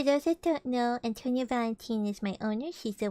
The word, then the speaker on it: Valentine: It's pronounced Valentine. Antonia Valentine. Not time, it's teen.